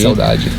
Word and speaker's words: saudade: bit of nostalgia remains So, you say it like “saudade” (melancholy) and not “saudaje” (melancholy) It’s "saudaje"! (melancholy) - Ah so it’s the Brazilian pronunciation! Yes, "saudaje".